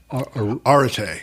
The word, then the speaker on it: Arete: There was one word you mentioned in there, and I don't know how to pronounce it. Arête? Arete.